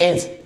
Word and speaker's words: edge: Other example जो है एज, EDGE, एज, एज, ये डी हो जाएगा silent, rule according to this rule.